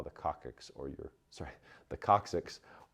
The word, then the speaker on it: coccyx: favorite movie refers to the coccyx as the coccyx is actually pronounced coccyx your cervical spine is this area of your